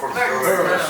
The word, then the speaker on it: Burnes: Arthur Connolly y Alexander Burnes, ¿cómo hay que pronunciarlo? Burnes.